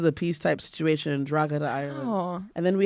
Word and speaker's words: Drogheda: The G is silent. Drogheda. Drogheda. Drogheda. Oh my God! No? You're making me wet. No, I'm getting that pussy juice though. Oh, you sound like the one from. Drogheda.